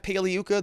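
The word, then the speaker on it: Pagliuca: defense did that remember jeff paliyuka the g is silent like lasagna he i think twice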